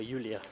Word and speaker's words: Julia: So just up here is the Basilica Julia, or Julia as it would have been pronounced.